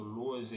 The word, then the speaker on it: Lohse: E o meu canal no YouTube é Lose. Lose se escreve Lohse e é com Z.